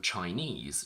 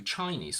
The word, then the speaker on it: Chinese: The general rule goes that all of these words on their own have their stress on the last syllable, but when we combine them with a noun, the stress shifts to the front. So, in 3-syllable words, we go from afternoon, Japanese, Portuguese, picturesque, to afternoon tea, Portuguese food. We go from Chinese to Chinese food, from this quantity is